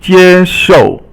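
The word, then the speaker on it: 接受: And then jie shou. Jie is first tone and shou is fourth tone, and it means to accept.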